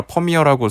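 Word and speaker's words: Vermeer: 여기 가시면은 북방의 모나리자란 별명으로 소개되는 진주기 거리를 한 소녀라는 그 베르메르란 예술가 발음 따라 퍼미어라고 소개되기도 하는데 국내에선 보통 그 동명의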